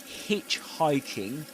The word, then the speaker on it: hitchhiking: Um before this before this we should say that in hitchhiking you stress the syllable hitch.